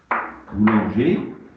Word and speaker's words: boulanger: Donc, pardon, c'est moi qui suis aussi distrait, c'est pas un on, boulanger, c'est un A.